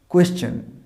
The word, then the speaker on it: question: This is নট কোশ্চেন। অনেকে এটা ঠিক উচ্চারণ করো, কিন্তু অনেকে এটা ভুল উচ্চারণ করে। এটা নয় কোশ্চেন, উচ্চারণটা কী বলো? কোয়েশ্চেন, কোয়েশ্চেন, নট দ্য কোশ্চেন, কোয়েশ্চেন।